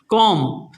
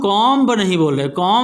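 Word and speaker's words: comb: कॉम, ठीक है, कॉम। यहाँ पर देखो बी क्या है? यहाँ पर साइलेंट लेटर है, कॉम। हम कॉम्ब नहीं बोल रहे, हम बोल रहे हैं कॉम, है ना?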